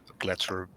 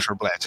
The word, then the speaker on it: Gletserblad: village is in the Gletser forest. Sorry, I mispronounced that. I think It's Glazerblad, but that's okay. You're good. Gletserblad.